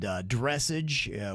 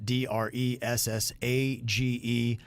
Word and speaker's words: dressage: I said dressage, which is spelled Dressage. It's dressage.